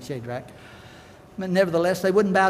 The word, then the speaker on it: Shadrach: had to bout well shade rack Meshach and Abednego and really it should be pronounced I understand Shadrach but nevertheless they wouldn't